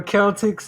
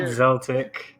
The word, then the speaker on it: Celtic: times good times yo Celtics in the chat dude it's not zeltic it's Celtic oh I swear he